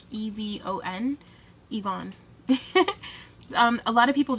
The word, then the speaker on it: Yvonne: I pronounce my name Yvonne. Yvonne. It's spelled Yvonne, but I pronounce it more like Evon.